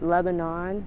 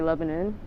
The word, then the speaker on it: Lebanon: But it's like the country, like Lebanon. That's how it's spelled. But we say Lebanon because, like, it's our words.